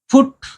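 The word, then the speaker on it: foot: ध्यान रहे उच्चारण, डबल ओ का यहाँ पर छोटी ऊ की मात्रा उच्चारण है, यहाँ बड़ी ऊ की मात्रा उच्चारण है। ये फुट होता है, ये टूथ होता है, ठीक है ना।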